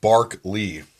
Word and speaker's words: Berkeley: trying to say here Berkeley pronounced bark leave okay anyways continuing here